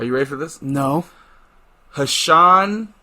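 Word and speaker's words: Ha'Sean: name is are you ready for this no hashon treyshawn clinton dicks okay it's spelled h a apostrophe sean t-r-e-s-h-o-n clinton dix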